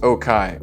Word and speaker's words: Okai: Regular viewers of the channel will recognize Okai. It looks like okay, but it's pronounced Okai, and I've been corrected, and I appreciate the input and help there.